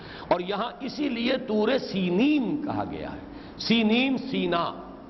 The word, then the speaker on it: سینین: Sinai peninsula, صحرائے سینا، یہ ہے سینین اس کا تلفظ ہے، یہ جمع کا صیغہ آیا ہے، اور عبرانی میں اس کو سینین کہتے ہیں۔ عربی زبان میں یہ